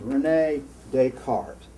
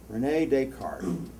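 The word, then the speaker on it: René Descartes: there was a french philosopher his name was renee descartes so you don't say you don't pronounce the asses in france renee descartes he was really smart you may have heard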